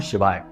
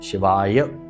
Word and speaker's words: शिवाय: पूरा मंत्र उच्चारण करेंगे बहुत से लोगों को हमने देखा कि मंत्र ही सही नहीं बोल रहे तो काम कैसे होगा मंत्रों में शक्ति है ऊर्जा है तो बोलते हैं ओम नमः शिवा ओम नमः शिवा तो ना तो नमः बोला ना ही शिवाय बोला तो ये गलती नहीं